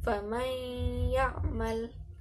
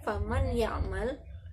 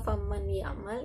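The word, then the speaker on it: فمن يعمل: Contohnya famay ya'mal, famay ya'mal. Jadi tidak faman ya'mal. Kalau faman ya'mal itu jadinya izhar ya, tidak tepat. Jadi bacanya dimasukkan kepada ya, jadi nun langsung ke ya, ya. Faman ya'mal, tapi disertai dengan gunnah atau dengungan.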